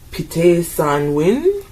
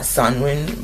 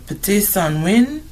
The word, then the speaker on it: Pte San Win: Before I pull this up, I went online to see how the Lakota say it. Um the first part I couldn't pronounce, but some of them it's Ska Ska Win. Not Sanwi, but I think Sanwi is a way to say this well, too.